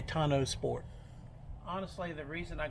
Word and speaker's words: tonneau: fine this right here i've heard it called tuno tano tano i think tono is that the t-rex the teacher in me wants to pronounce it okay tonno sport honestly the reason